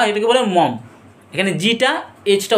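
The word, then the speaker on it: Maugham: হয়েছে আর এই স্টরিটাকে লেখেছে কে উইলিয়াম সমরসট মগম বা এটাকে বলে মম এখানে জিটা এটা উচ্চারণ হয় না মম বলা হয় ঠিক আছে তো উলিয়াম সম কথা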